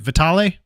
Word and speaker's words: Vitale: and help me pron make sure I'm pronouncing your last name correctly is it an is it vital no that's a great pronunciation one of uh the few that gets it right awesome all right well